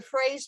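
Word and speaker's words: fraise: the compost someplace but phrase mowing is spelled it's spelled f r a z e f r a i s e look at some of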